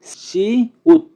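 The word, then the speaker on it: 시옷: তারপরে আছে সি উত, সি উত, সি উত। সি উতের উচ্চারণ হবে স, স এবং ত এর মতো।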